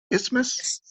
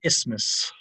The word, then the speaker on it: isthmus: i always call it isthmus like spelled how do you spell it let's let's go there because there's a t in there right i-s-t-h-m-u-s is famous but that's not how you say it it's and you